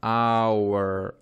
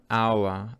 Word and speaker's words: hour: Следующее слово, полное его произношение hour, hour, hour, hour, как слово час, hour.